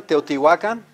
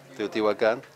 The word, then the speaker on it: Teotihuacan: You know, the way it's supposed to be pronounced, huh? Everyone, Teotihuacan, as opposed to what? Teotihuacan.